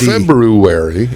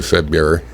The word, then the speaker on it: February: know why when it could be wel s February is the correct pronunciation of that word February February but most people say fed mirror I say a little organ I say February